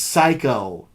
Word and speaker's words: Psycho: video store oh it's psycho the P is silent dummy and it's actually